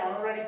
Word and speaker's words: honorary: So silent H. So remember we also put an before the word that begins with silent H.